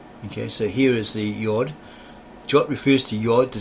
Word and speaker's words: yod: Likewise, John Poris in his commentary on Matthew just jot in the Greek iota signifies the Hebrew letter iod pronounced yod tit in the Greek horn denoting a very slight projection at the corner of certain Hebrew letters emphasis added.